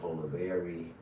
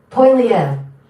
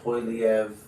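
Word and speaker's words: Poilievre: I've even heard some people say Polivier. That's why I'm like, how are they pronouncing his name? Let's see. It's like so subjective too. It's kind of like people say Oregon. Poiliev. Yeah, Poiliev.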